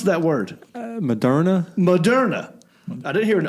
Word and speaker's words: Moderna: Well, no one says, right, it's the word modern with an A at the end.